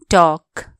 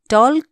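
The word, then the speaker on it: talk: टी ए एल के टॉक एल यहां के हु्छ साइलेंट टॉल कोना टॉक टी ए एल के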